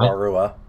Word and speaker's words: Wairua: During Legend of Motunui's final cutscenes, the Toa appear to lose their golden Kanoe after Akami and Wairua, or Wairuha, however you pronounce it. It's just Akamai and Wairua.